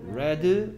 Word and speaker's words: read: 근데 얘는 얘이 부분의 발음이 달라집니다. read, red, red입니다.